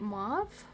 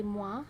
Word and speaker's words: mauve: Mauve? Makes me want to say moi, but I think it's mauve.